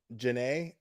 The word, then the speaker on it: Janae: Oh no, Janae. I don't know if it's Jana or Janae. I know a girl spells her name just like yours, and she pronounces it Janae.